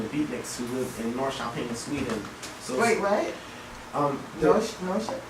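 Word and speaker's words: Norrköping: k p i n g wow but you pronounce it nor shaen nor sh anyway so these these fellas that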